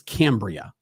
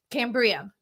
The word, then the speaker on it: Cambria: It's Cambria. Cambria.